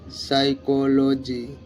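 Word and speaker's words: psychology: ওয়াই সি এইচ ও এল ও জি ওয়াই সাইকোলজি পি এন ইউ এম ও এন আই এ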